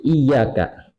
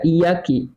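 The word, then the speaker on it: إياك: Kemudian wakasri kafi iyaka, dan kasrohnya kaf lapat iyaka, iyaka na'budu wa iyaka nasta'in, dibaca iyaki. Nah, ini merubah makna. Kalau iyaka hanya kepadamu kamu mencoba menyembah, kalau iyaki juga hanya kepadamu kamu, hanya kepada engkau kami menyembah, hanya saja lapatnya diganti ki.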